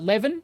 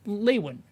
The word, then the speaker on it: Lewin: on professor walter uh levin isn't it yeah lewin right yeah i'm i'm butchered